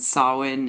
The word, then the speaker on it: Samhain: the pagan holidays and sawin is like a Gaelic word um so it's spelled differently than how it sounds and Mark joked